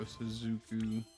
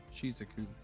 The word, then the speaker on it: Shizuku: Go Suzuku or Shizuku. Is that the way they pronounce it? Yeah. I'm gonna try not to Kentucky up every Sky Striker word. Shizuku.